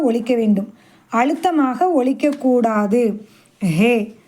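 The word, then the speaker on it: ه: வாவ் வாவ் அடுத்து ஹே ஹே இதை கொஞ்சம் உச்சரிக்கணும். இத எப்படி உச்சரிக்கலாம் அப்படின்னு கேட்டா நம்ம ஏதாவது ஒன்னு கே்கறதா இருந்தா நம்ம என்ன சொல்லுவோம் ஓஹோ அப்படின்னு சொல்லுவோம். ஹோ அப்படின்னு சொல்லி சொல்றோம்ல ஓஹோ அந்த மாதிரி ஹே ஹே தொண்டையினுடைய இறுதியில இருந்து வெளிய வரணும்னா சொல்லி பாருங்க ஓஹோ சாதாரணமா வந்துரும்.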